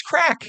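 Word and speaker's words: craic: but um it's crack. It's crack. That's okay to say that. Okay. C R A I C is spell it. It's crack. But that's fun.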